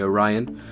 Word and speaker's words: Orion: we shall start if you don't know how pronounce it is the it's the Orion theater so the Orion pretty cool name chevas chose it awesome so